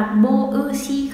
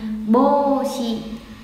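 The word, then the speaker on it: ぼうし: Có đọc là bô ư si không? Mà đọc là, à, kéo dài chữ bô ra thôi thành bô si, bô si.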